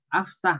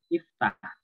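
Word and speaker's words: اِفْتَحْ: Jadi kalau ada orang ngajak bahasa Arab kok baca aftah, oh film amr, oh, itu berarti baru pemula. Oh. Yang betul iftah.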